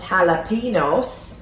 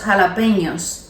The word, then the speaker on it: jalapeños: And then instead of saying no me gustan los jalapenos, No me gustan los jalapeños. los jalapenos, because when the tilde is on the end, you say ñ, jalapenos, okay?